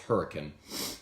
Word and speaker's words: Hurricane: Dawson from Huracan West Virginia spell hurricane but pronounced hurricane trade Dawson freshman from hurricane West Virginia he